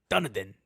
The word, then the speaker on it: Dunedin: It's like, no, Dunedin.